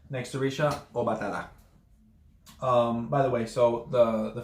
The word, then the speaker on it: Obatala: The emphasis being on the second, on the third A, excuse me. So it's not Obatala, it's not Obatala, it's Obatala. The emphasis is on the last A.